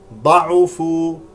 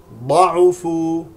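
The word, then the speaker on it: ضَعُفُوا: أفإن هكذا نقرأها، أفإن، هذه الياء لا تلفظ، ضعفوا، ضعفوا بضم العين والفاء، العين والفاء مضمومتان، يميز الخبيث، يميز بفتح الياء الأولى وكسر الميم مع المد الطبيعي.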